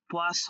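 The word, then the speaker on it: poisson: হ্যাঁ, তবে ইংলিশের সাথে উচ্চারণটা মনে রাখার জন্য আপনি এরকমটা মনে রাখতে পারেন, যেমন পোয়া স বলছি, রাইট, স উচ্চারণ করছি, আবার ফিশ বললেও স উচ্চারণ হয়, ফিশ। ফিশের উচ্চারণ খেয়াল, হ্যাঁ, মাছ, মাছ বললেও হয়, রাইট। কিন্তু আবার এখানে পোয়া জ যখন বলছি, জ সাউন্ড, আবার পয়জন, পয়জন, ওখানেও জ সাউন্ড।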